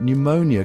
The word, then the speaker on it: pneumonia: Pneumonia comes from the Greek word pneumon, which means lung. And in ancient Greek, both the P and the N were pronounced. But when the word migrated to English, those two letters decided to take a break. The P went silent because, well, nobody really knows why.